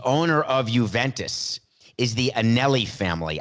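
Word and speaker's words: Agnelli: of Juventus is the Anneli family I said AG Nellie the G is silent the Anneli family in Italy thank you for that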